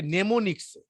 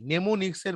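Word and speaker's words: mnemonics: আর assembly ল্যাঙ্গুয়েজগুলোকে লেখা হয় হচ্ছে নেমোনিক্সে, নেমোনিক্স, নেমোনিক্স, বইয়ের মধ্যে বানানটা দেখে নেবে, নেমোনিক্স স্পেলিংটা বলছি আমি।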